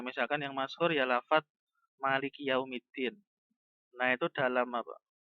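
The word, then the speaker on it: مالك: Jadi ma-nya itu ada matnya. Sehingga ditekan gitu. Ada penekanan pada huruf mim. Gimana? Maliki yaumiddin. Fokus pada lafaz malikinya itu ma-nya ditekan. Maliki.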